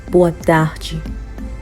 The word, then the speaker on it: boa tarde: So we are still getting the J sound because when D-E is ending a word, you are going to get the sound J. Boa tarde.